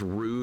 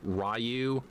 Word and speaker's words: Ryu: The people who pronounce Street Fighter names with a Japanese accent in English is Ru, not not Rayu.